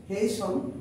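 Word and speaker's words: hasten: হোয়াই হেসন away, এখানে উচ্চারণটা হচ্ছে HASTN, উচ্চারণটা হচ্ছে হেসন।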